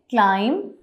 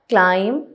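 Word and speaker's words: climb: हम इसको कैसे प्रोनाउंस करेंगे? क्लाइम, लाइम, थम, प्लम्बर, क्रम, कॉम, लैम। अब यहाँ पे कहीं पे भी बी नहीं बोला जाएगा। क्लाइम, लाइम, थम, प्लम्बर, क्रम, कॉम, लैम।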